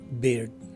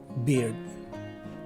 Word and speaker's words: beard: being a one-syllable word, and the letters E and A take a combined short letter I sound. The rest of the letters of this word are pronounced as spelled. So this word is pronounced as beard. Again, beard.